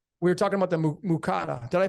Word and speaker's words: Muqatta'at: we were talking about the mukata. Did I pronounce that right? Yeah, muqatta'at. What is it? Muqatta'at. Mukata'at.